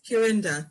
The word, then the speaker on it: Kirinda: Did I pronounce your name correctly? Kirinda? Yes, Kirinda, that's correct.